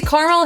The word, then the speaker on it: caramel: To me, caramel has two syllables. Museum has three.